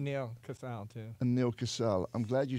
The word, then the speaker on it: Casal: And Neil Casal. I'm glad you said that because I didn't know how to pronounce Casal.